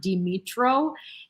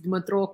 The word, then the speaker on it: Dmytro: He's not Dimitro. He's Dmytro Kuleba and not Kuleba, but Kuleba.